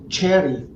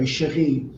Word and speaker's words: Cherie: Cherie in France. But here Yes. they call it Cherry or Yes. or, and it takes a long time trying to make them understand. They always spell it with CH. It's actually Yes. SH, it's CH. Yes. So I Yes. always say it's the French way, chérie.